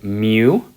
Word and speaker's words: mu: parameter that we've been using a lot is Mu and that's pronounced mu okay and that is the population